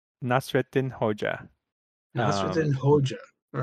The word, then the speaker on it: Hoca: Yeah, it's Hodja, although in Turkish it's Hoca, but you pronounce it with that, like the D, that sound that the D and the J make in English.